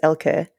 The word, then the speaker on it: Elke: The only person who comes close to the more German pronunciation is Miss Piggy, who says Elke.